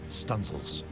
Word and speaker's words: studding sails: She might even run out the stunsail booms to set studding sails, pronounced stunsails.